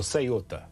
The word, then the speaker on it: Ceuta: I think you pronounce it Ceuta or Ceuta.